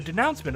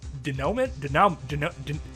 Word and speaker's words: denouement: And the denouncement of that argument, not denouncement, denouement? I've heard that word before. How is it pronounced?